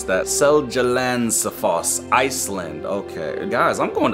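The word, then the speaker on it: Seljalandsfoss: good we're chilling what do we got whoa salazar finland wait guys uh how do you pronounce that seljalandsafoss iceland okay guys i'm going to iceland is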